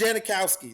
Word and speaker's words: Janikowski: and like when they first started seeing names janakowski was one of the first ones they were like huh yeah yeah that's it's Janikowski it's pronounce that correctly um another one I gotta